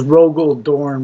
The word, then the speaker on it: Rogal Dorn: And then there's Rogal Dorne, which is basically Royal with a G instead of a Y.